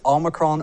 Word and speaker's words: omicron: pronounce it it says omicron omicron shed some right there right you say tomato i say tomato it's omicron it's all with emphasis on the oh it's the 15th letter